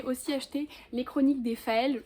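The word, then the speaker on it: Féals: Ensuite, j'ai aussi acheté Les Chroniques des Faël, je pense que ça se prononce comme ça parce que c'est pas Faé, c'est vraiment Faël avec un L, de Mathieu Gabory.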